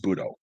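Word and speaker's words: 武道: When the characters for Wu Dao are given their Japanese onyomi reading, the word is pronounced Budo, and that word is found extensively in Japanese history.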